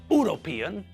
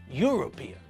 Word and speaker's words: European: university uniform and European we pronounce all these words with a year sound at the front it's not university it's university it's not uniform but uniform and it's not European it's European so we have to